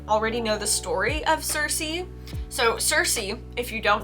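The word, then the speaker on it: Circe: pronounce and i guess in ancient greek we would have pronounced it quirky but they could no one could decide whether it's cersei cersei and i like cersei so we're gonna stick with that i like it a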